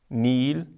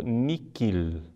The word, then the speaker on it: nihil: deve ser pronunciar Cristo é a segunda palavra nir deve ser pronunciada como seu h não existisse é assim